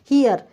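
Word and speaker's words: hear: हियर, तो ही, एच, और फिर आई, फिर ए, फिर रा को हम क्या कर देंगे, साइलेंट कर देंगे।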